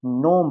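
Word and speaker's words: gnome: जीनोम नहीं पढ़ना है इसको। नोम पढ़ना है। अब क्या होगा? जी साइलेंट हो जाएगा।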